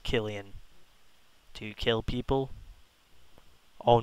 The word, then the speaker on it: Killian: Oh, it is pronounced Killian.